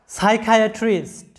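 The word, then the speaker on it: psychiatrist: এরপরে দেখো সাইকোলজিস্ট, এখানে লক্ষ্য করো যে প্রত্যেকটা শব্দে সিএইচ এর উচ্চারণ কিন্তু ক এর মতো হচ্ছে, কিন্তু কেন ক এর মতো হচ্ছে সেটার কোনো রুলস নেই।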